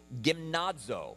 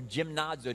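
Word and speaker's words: γυμνάζω: It's gymnazo or gymnazo, depending on hard or soft G there, from which we get the word gymnasium, right?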